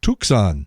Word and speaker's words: Tucson: He was giving the phonetic pronunciation. He said, Tucson, Tucson.